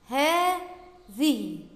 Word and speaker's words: هذه: كلمة الثانية هذه، هذه، بعد الهاء ألف تنطق ولا تكتب.